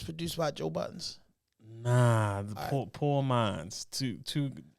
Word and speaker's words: Pour Minds: Nah, Poor Minds. Two. It's spelled POUR Minds.